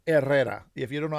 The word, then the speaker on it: Herrera: I really I hate saying Herrera. That's That's not how my name is pronounced. My last name is pronounced Errera.